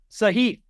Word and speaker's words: Sahith: You know what rhymes with Spieth? Sahith.